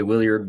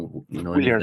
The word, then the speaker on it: Willyard: Willyard, do I have that, your second name, pronounced okay? Yeah. We say Willyard, but Willard, or Willyard.